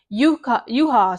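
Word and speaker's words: Juhász: I believe that's how you pronounce it, but it starts with a J.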